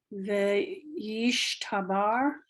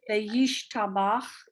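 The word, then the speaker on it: וְיִשְׁתַּבַּח: Veyishtabar. I'm not bar, Ve- no resh. Veyishtav. Sorry, where are we? What Where's your? you're on your vayish ta ba, and then what's this final letter? Oh, Veyit par. Now you went to the next one, but I want to hear the one before because I Oh, didn't hear it. Veyishtabar. Bach, Bach. It's a Oh, chet.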